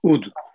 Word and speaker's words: oud: Its name is oud. Oud. Oud, okay. Yes. Yeah. Oh, Ute, E-U-T-E? No, O-U-D. In O-U-D. Turkish, yes, in English it's O-U-D. Yeah. In Turkish it is only U-D. Oud.